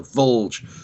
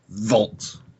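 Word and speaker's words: Volge: Sorry, we got the name of the bad guys wrong in the first episode of the show. It's the Vulge, Did we? not Vault.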